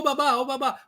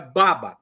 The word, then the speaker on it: baba: Ô babá, porque é quem cuida, né? Mas é baba, o acento tônico é na primeira sílaba, baba.